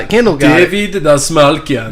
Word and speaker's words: Dastmalchian: How do you pronounce his last name? Yeah, there you go. He got it. Kendall got David it. Dastmalchian. Dastmalchian.